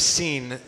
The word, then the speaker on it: Sin: up in Vegas like it's just the desert of scene which happens to be spelled the same way as our English word which is between Elim